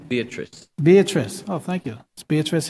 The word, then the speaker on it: Beatrice: I'm sorry, I'm mispronouncing. I can't quite make out your first name. Beatrice. Beatrice.